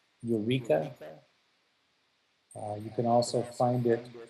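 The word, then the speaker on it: Eureqa: The software for symbolic regression is called Eureka.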